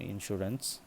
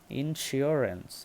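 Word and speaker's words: insurance: আমি নিজেও ভুল করতাম এটাকে আমি নিজেও বলতাম ইন্স্যুরেন্স ইনস্যুরেন্স মূলত আসলে এটা ইনস্যুরেন্স না এটার সঠিক উচ্চারণ হলো ইনস্যুরেন্স ইনসিওরেন্স যদি আমরা আইএন টাকে কেটে দেই সিওর সিওর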